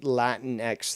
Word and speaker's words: Latinx: I always thought it was called Latinx, you know, like Sphinx or fucking Minx or something like that. And then I was told, no, it's pronounced Latin X.